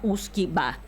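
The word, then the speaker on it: uisge beatha: Y después eso era en el antiguo dialecto gaélico y eh que se pronunciaba uskiba y al anglicano whisky, por eso pasó a llamarse whisky.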